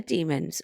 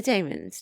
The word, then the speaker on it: Daemons: Thank you to everybody who's voted for today's story, which is the Demons, or the Daemons, depending on how you say it. I know they say it both ways.